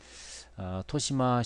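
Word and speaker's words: 豊島: 토시마 쇼와 묘인이라는 광고판이 있거든요. 토시마는 여기 구 이름이 토시마쿠입니다. 그래서 토시마, 아, 풍요로울 풍자에다 섬도자 써서 토시마라고 읽는데요.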